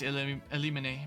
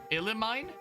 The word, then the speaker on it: Elimine: The mean is pronounced like mine. Elimine?